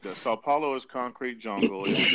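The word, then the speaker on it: São Paulo: Let me know if I'm pronouncing this right. Do you recommend Rio over Sao Pablo? Okay, Sao So, Paulo. Sao Okay, Paulo. they're talking about Saopaulo, right?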